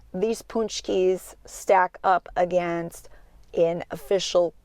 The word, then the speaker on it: Pączki: perfect Polish doughnut or punch key as it is pronounced by people in Poland it's going to say